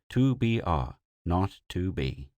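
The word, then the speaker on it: 2BR02B: were supposed to call the zero in the telephone number he pronounced not the number was 2BR not 2B it was the telephone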